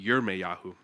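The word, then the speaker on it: ירמיהו: And there's no J sound in Hebrew, by the way. So my name, it's a Hebrew name, but it would be Yirmeyahu.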